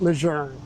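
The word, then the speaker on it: Lejeune: And this is this is one of the Marine Corps's most famous generals, John Archer Leune. Well, actually, I think the family wants us to pronounce it Leger, but he was famous for command in World War I and thereafter.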